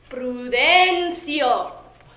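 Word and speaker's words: Prudencio: of name is that brudencio my father would enunciate in his heavy filipino accent emphasis on the second syllable and a quick seal on the final one i remember hearing many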